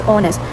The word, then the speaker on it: honest: So the correct pronunciation of the word honest is honest. The H is silent. It has two syllables.